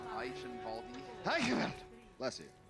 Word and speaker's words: Eichenwalde: Eichenwalde. But we already figured this out. It's Eichenwald. No, you just have to say it like you're sneezing. Eichenwalde.